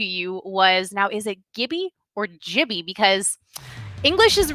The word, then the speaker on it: Gibby: hi no argument here it's Gibby not Jimmy if you pronounce his